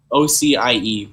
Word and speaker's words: Ocie: OCIE, but pronounced OC.